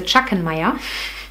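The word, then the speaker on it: Schachenmayr: colors by shakhan Maya you pronounce a chuckan Maya it's a German brand um and it's the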